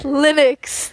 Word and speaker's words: Linux: do you say is it Linux what it's Linux thank you very much I was flicked many